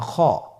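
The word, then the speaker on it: خ: খ হরফটির মাখরাজ হলো কণ্ঠনালীর শেষ ভাগ হতে উচ্চারণ করতে হয়, কণ্ঠনালীর শেষ ভাগ।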